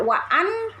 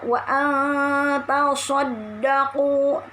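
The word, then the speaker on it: وَأَنْ تَصَدَّقُوا: Nun sukun ketemu ta ikhfa, ya. Jadi tidak wa'an tapi dibacanya wa tasaddaqu.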